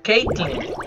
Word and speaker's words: Caitlyn: Bueno, se pronuncia Katelyn, pero... Bueno, se pronuncia Caitlyn.